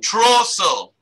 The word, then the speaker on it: Trostle: Trostle. Okay. Thank you. That's Mark. That's Mark and Estella. There is no T in their name in the pronouncing.